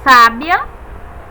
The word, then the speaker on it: sábia: recai a sílaba tônica vamos aqui ver o exemplo sábia temos a sílaba tônica sa e é uma palavra só tem um significado totalmente apesar de serem escritas da mesma forma que sabiá vejam diferente sábia Sabiá nós sabemos facilmente a